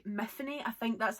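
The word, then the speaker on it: Myfanwy: really want to like methane i think that's how you pronounce it there's a whole explanation in the book where it's tiffany with an m so methane but o'malley's writing i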